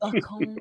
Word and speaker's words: Bacon: It's Sophie Bacon. Bacon. Wow. Not Bacon or anything like that.